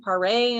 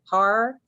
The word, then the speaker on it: Michael Paré: Now, some people pronounce his name Paré, and some people pronounce his name Parr.